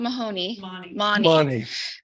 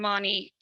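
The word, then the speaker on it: Mahony: style he learned from I know you told us how to pronounce this but um it's not Mahoney um and right even as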